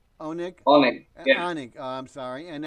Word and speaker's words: Onik: And your first name pronounced Onik, is that correct? Onik? Onik.